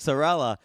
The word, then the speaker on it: Sorelle: and said hey it's it sounds like sella Bella so we're going yeah some people don't know how to pronounce it so I'm just like